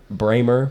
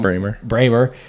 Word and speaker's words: Brahmer: can't forget about Ben Benjamin bramer brahmer I mess it up every time bramer I did say it right that first time but he is awesome